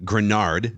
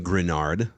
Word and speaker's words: Greenard: right now but that's okay another note on grenard Jonathan grenard thank you for the correct pronunciation there so he had the eighth best